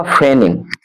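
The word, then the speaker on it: feigning: Next word है आपका फेनिंग। एफ इ आई जी एन आई एन जी। इसमें जी silent होते हैं। जी को नहीं बोला जाता है।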